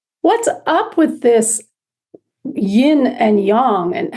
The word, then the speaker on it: Yin: Yin we spell that y-i-n in English Yin or it's pronounced think of the word inside so in so the sound of in make it for yourself